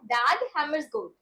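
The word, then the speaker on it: Dag Hammarskjöld: सो यहाँ पे डैग हैमर्सगोल्ड में इनका के एन जे साइलेंट है, तो इनकी प्रोनाउंसिएशन नेम की थोड़ा ध्यान से लीजिएगा, डैग हैमर्सगोल्ड।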